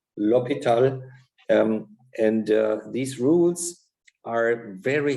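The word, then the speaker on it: L'Hôpital: the rules of l'hopital this is a french name as you can see and so it's written like hospital but please pronounce it to be lopital and these rules are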